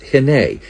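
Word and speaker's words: הִנֵּה: In the Old Testament, the word is hene. In the New Testament, it's pronounced idu.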